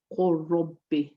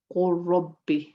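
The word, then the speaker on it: قل رب: And if you look here, qul, and then in idgham we say qul rabbi, qul rabbi. We are merging it.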